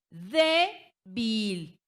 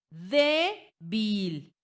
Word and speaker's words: débil: Debil. Debil. Recae en la penúltima y la palabra débil termina en ¿qué?